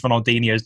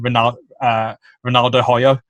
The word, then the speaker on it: Ronaldinho: in the quarterfinal, and I didn't know how to pronounce Ronaldinho's name right. I used to call him Ronaldo Hoyo and Ferry right.